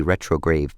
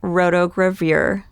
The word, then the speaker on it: rotogravure: For instance, listen to how he pronounces this word. Had looked out at me from many retrograde pictures on the Sporting Life. The correct way to say that is actually rotogravure.